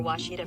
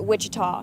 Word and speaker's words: Ouachita: people say OA oh a Oita is it pronounced Oita searching for wasita Baptist University back in Texas everybody pronounces it Witchita but really it's was wash was how would